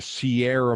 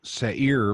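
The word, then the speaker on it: Seir: petra now petra uh the sierra mountains or the sea i guess sair mountains is a better pronunciation from the bible these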